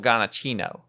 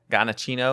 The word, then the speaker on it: Giacchino: Michael Giacchino. Is that him? Yeah, that's Oh. That's how you see right here, Gabby. That's how you say it. Giacchino, or is it?